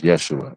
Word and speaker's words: Yeshua: We would uh both be pronounced as Yeshua, right?